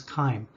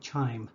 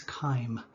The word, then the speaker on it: chyme: i said before that when you see a ch at the beginning of a word it's pronounced as a hard k so the proper pronunciation is chyme however thinking back i